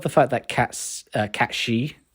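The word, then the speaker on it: Cait Sith: fact that cats uh cat she that's how you meant to pronounce it catshi um actually has a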